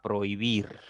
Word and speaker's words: prohibir: Esta palabra va a tener solamente 2 sílabas. No va a ser trisílaba, como generalmente podríamos pensar.